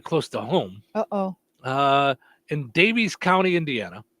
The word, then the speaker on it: Daviess: In Davies County, Indiana. Not exactly sure where Where's that's that? Hold on. Let's see where Davies County is.